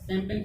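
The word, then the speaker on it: champagne: इसमें ये साइलेंट है। कैसे? जी का है, कैसे साइलेंट है? कि जी के बाद जब एन और एच आता है क्या होगा? जी साइलेंट हो गया।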